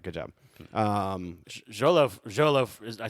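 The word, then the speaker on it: Xolo: Jolo, I said it right, Jolo?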